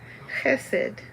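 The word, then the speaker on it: חסד: dalit and that spells hesed and it's spelled here for us the ch is the sound of like bach like a german ch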